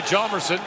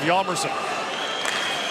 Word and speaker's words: Hjalmarsson: In North America, they say Hjalmarsson, but here in Europe, they go with the more traditional Swedish pronunciation of Hjalmarsson.